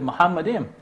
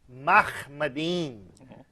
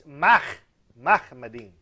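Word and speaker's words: מחמדים: Now, the phrase which says he's altogether lovely actually is a word which in Hebrew is sounded Muhammadim.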